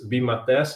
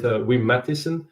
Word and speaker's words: Wim Matthyssen: name correctly Nicholas um so if I say it in Dutch it's VI mat but most people um English natives say we medic um so I'm living